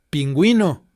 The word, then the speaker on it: pingüino: তো আগে আমরা কি দেখছিলাম যে যখন ইউ কোনো ভাওয়েলের সঙ্গে থাকবে তখন কিন্তু সেটা ডিপথংয়ের মতো প্রোনাউন্স হচ্ছে, pingüino, vergüenza, lingüística, সেটা কিন্তু মানে আলাদা করে প্রোনাউন্স হচ্ছে না, মানে ডিপথংয়ের মধ্যে মিশে যাচ্ছে ইউ এর উচ্চারণটা।